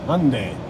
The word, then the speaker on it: Hyundai: going to work well looks like they think it's two syllables right just like i said hyundai yeah i think you're